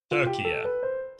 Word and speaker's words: Turkey: Turkey. Okay, I was pretty close to begin with. Turkey has the stress on the first syllable.